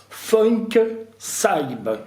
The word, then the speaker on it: FunkSyb: Alors aujourd'hui, on est chez l'artiste Funk Saib. Je le prononce bien, Oui, ça va.